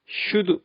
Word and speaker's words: should: would, could, should. 여기서도 겹자음인 LD 중에서 L 소리는 발음 안 합니다.